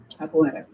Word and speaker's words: capoeira: Capoeira.